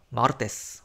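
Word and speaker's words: martes: 마르테스, 화요일인데 이제 s로 끝났으니까 맨 앞에 뒤에서 두 번째 음절에 강세가 옵니다.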